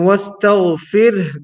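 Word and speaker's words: واستغفر: Wastagh, not tug, but wastagh. And wastaghfir, the last letter is ha and not ra. So we have to make sure that we are pronouncing the letter ha clearly.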